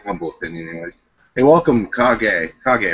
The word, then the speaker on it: Kage: Hey, welcome, Kage, right? I pronounced that right? Kage Shinma. Kage, yeah, Kage. Okay. Hey, welcome, man. It's Japanese. It's right there. Yep, you got it right.